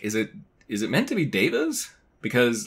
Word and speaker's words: devas: And like Veda is V-E-D-A and this is D-E-V-A and you pronounce Veda, Veda. So it was like, is it supposed to be devas? But the whole, like, the past 9 years or whatever that they've been in the world, I've pronounced it divas.